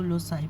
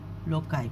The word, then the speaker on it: Loci: देखें students, American pronunciation में इसको लोसाई पढ़ते हैं और ब्रिटिश प्रोनाउंसिएशन में इसको लोकाई पढ़ते हैं।